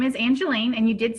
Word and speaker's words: Angelene: you do okay okay sure my name is Angelina and you did say it right and I